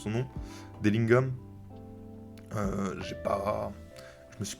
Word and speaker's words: Dillingham: Rob, j'oublie toujours comment on prononce son nom. Dellingham. J'ai pas. Je me suis pas intéressé. Dillingham, ouais, Dillingham.